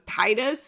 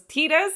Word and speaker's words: Tidus: So I always thought it was Titus, and then I found out it was Tidus, and I was like, what?